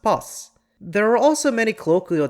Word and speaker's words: பஸ்: For example, the word boss is spelled like it's pronounced boss.